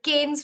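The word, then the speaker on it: Cannes: in France every year it's actually not canes it's can this is the a sound sorry this this here is the a sound the S will remain silent and this is a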